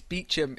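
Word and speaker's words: Beauchamp: And then um Zeb wrote, "Is it Bon in France?" Then sure I know, April. No, I'm afraid it's Bechum in England.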